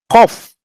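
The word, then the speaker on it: קוף: This is cough, okay, and Q-O-F, no? Cough. That's how you pronounce it.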